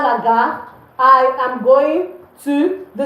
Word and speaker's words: gare: It's not gare, it's gare. The R is silent.